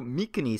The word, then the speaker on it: Mycenae: In terms of language and pronunciation, I'm going to go with the standard English way of pronouncing Greek names. So Mykene stays Mycenae, and Macedonia stays Macedonia. I know the hard K is more accurate, but I think people have more familiarity with the soft C.